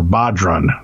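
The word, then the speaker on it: bodhrán: of someone hitting a broad ran or bodun that's how they said I like how he gives me the pronunciation afterwards which is a Celtic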